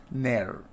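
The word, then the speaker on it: ne'er: And in never, we see that v that is omitted. So then it is pronounced as ner, right?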